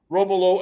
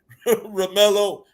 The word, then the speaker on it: Romello: those guys were, especially, going with Romulo and Romello, I should say, I pronounce it correct, Romello and Jacoby George.